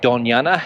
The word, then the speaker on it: Doñana: Now, if you're not familiar with Doñana, and Doñana is spelled D-O-N-A-A-N-A, it has that Spanish ñ sound, which is unique to the Spanish language, of course.